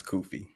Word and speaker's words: Kufi: How do you say it? Kufi or Kofi? Is it Kufi? Yeah, it's Kufi.